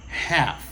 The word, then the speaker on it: half: Il est souvent pas utilisé 30, il est utilisé half. Half. Elle l'a pas prononcé, OK?